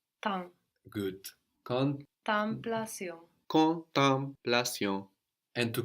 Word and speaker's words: temps: But then we have tem, no? If I say it how it's written. But there again we have an M on the end of the syllable. So how would that sound in French? Temps.